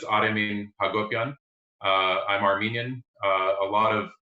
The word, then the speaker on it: Aremin Hacobian: So the actual pronunciation is Aremin Hacobian.